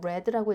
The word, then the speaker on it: read: 예술들이 나와 있기 때문에 read 아니고 레드라고 읽어 줘야겠죠 나는 어제 신문을 읽었습니다